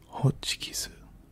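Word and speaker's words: ホチキス: But it's hochikisu, hochikisu, hochikisu, which is how you say stapler in Japanese.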